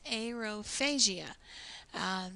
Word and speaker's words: aerophagia: ascites and aerophagia aerophagia see I say it differently and it's aerophagia so it helps because